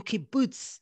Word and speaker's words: kibbutz: fruit grower farmer in kibbutz in israel did i say that can you teach me how do you say boots kibbutz exactly you said it right okay there he realized